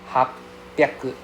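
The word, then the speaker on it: はっぴゃく: Hapyaku. Hapyaku. Right? So you see that I pronounce the P with the first half, right? Instead of saying ha, I become hap.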